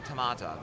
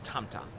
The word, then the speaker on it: Tamta: Let's drop the name Tamata. Just because one person mispronounced it, we shouldn't acknowledge that, or that we shouldn't adopt it, I should say. It's Tamta is her name.